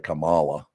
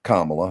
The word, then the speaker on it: Kamala: Kamala Harris on the show, even though I pronounced her name correctly instead of Kamala. It's nice. It's Kamala.